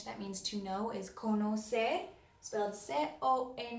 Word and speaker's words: conocer: erase this while I do that you practice pronouncing sorry the other verb in Spanish that means to know is kono say so I'll set up a me oh say